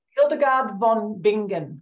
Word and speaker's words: Hildegard von Bingen: Hildegard von Bingen, Bingen.